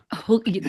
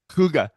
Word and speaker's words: hygge: It's pronounced hygge though. Huga. There, yeah, much better. I don't know. I just wanted to say it. Give it to us one more time. Huga.